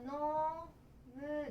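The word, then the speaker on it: 飲む: だから飲むですね。飲むとかインと読みます。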